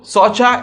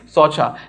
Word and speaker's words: Saucha: So Socha in Sanskrit, purity, cleanness, hygienic principles, all those things in Sanskrit is spelled as Saucha, that is S-A-U-C-H-A, not S-W-A-T-C-H.